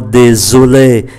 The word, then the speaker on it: désolé: Je suis vraiment désolé. S phát âm là Z bởi vì đứng giữa hai nguyên âm.